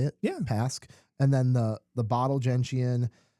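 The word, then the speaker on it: Pasque: Pask, is that how you say it? Yeah. Pask.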